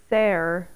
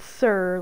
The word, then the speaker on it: Ser: game says sir and it's spelled ser it's supposed to be pronounced fare like I don't know Old English I guess yeah it's supposed to be pronounced kind of Old English II not not sir like IR but it's difficult to